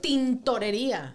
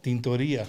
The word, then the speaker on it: tintorería: No, A se dice right? tintorería. Tintorería. Tintorería, sí. Tintorería, ok. Tintón. Tintón. No, tinto. Tinto. Tintorería. Tintoría, ok. We got it. No tintorería.